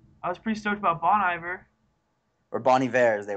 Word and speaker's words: Bon Iver: really annoys me because I'm pretty sure it's Bon Iver they were stilling Bonnie ver at the awards ceremony I mean maybe Bonnie ver that's the proper French I don't know how he pronounces it well we're American so we're gonna go with Bon Iver yeah got it yeah